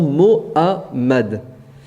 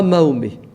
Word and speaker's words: Mohammed: Alors disons Mohammed, mais pas Mahomet. Mahomet, c'est quelqu'un d'autre. Je ne sais pas qui, mais en tout cas, c'est pas Mahomet.